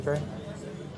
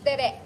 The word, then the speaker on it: Tere: You're saying something, Trey? Sir, it's tere, accent on the second syllable.